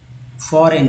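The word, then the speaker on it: foreign: Then 15 years फॉरेन, फॉरेन जी एन में इसको ना बोलते हैं, जी का साइलेंट कर देते हैं, फॉरेन।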